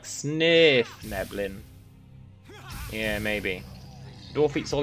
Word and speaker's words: Svirfneblin: Pretty sure it's pronounced more like Svirfneblin.